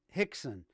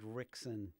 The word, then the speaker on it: Rickson: And Buddy, hold on, it's pronounced Hickson. Oh, what did I say? Oh, Hickson. Okay. Oh, I said Rickson.